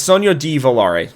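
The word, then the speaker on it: Sogno di Volare: Civ 6 like Sono it's Sono Dalar. Sorry that's how it's pronounced.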